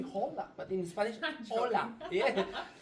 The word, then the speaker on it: hola: You don't pronounce the H. For example, the word hola. O L A it have an H in the front. In Spanish you don't pronounce you say hola but in Spanish hola.